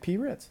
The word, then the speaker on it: Pritz: friend Allan and now your last name is pres pronounced Prince kind of like Prince only only known as PR well it's easier for people to think the crackers with the p oh there you goit P rits I got that that